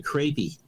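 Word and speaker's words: crappie: in that game is called a crepey but it's spelt crappy c-r-a-p-p-i-e oh yeah i've heard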